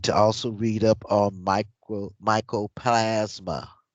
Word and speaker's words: mycoplasma: You need to also read up on mycoplasma. Spell it, Nazi. It's M I M-Y. M Y CROPLASMA. No, mycoplasma. Micro.